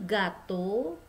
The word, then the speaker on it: gâteau: Ini EAU dibaca O. Kemudian kalau A ada aksong seperti ini, dia dibacanya A. Ga. Ga, bukan ga, bukan ga, tapi ga ya. Jadi ininya seperti tersenyum ga.